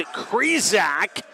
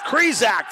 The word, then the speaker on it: Krizak: Caden Krizak rhymes with Trezak. It's Krizak, the freshman, getting the